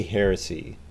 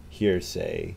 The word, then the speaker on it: heresy: Okay, you definitely say heresy. Heresy, you don't say hearsay.